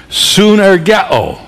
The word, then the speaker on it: synergeo: This expression translates a word in the Greek language which is pronounced synergeo.